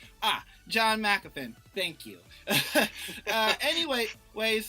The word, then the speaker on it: Jean Marc: Deva yeah caposa uh how do you say your name I'm sorry that's all right it's French uh John mcin ah John mcin thank you uh anyway